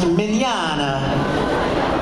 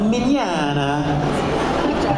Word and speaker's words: Mignogna: name is Vic minana it's pronounced minana like Italiano minana pay no attention to